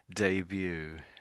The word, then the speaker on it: debut: We pronounce this in the English as debut. Debut.